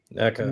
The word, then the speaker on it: NECA: He's saying, "Meanwhile, NECA, is it Na or NECA?" NECA. NECA. NECA. I'm trying to teach myself to say it right.